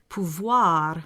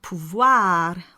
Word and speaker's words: pouvoir: The French word for power. I would say pouvoir with the A sound, not pouvoir with the A sound.